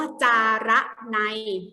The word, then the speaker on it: จาระไน: อ่ะ ต่อ มา ค่ะ คำ ว่า จาระไน นะ คะ อ่าน ว่า จะ ระ ใน คำ นี้ แปล ว่า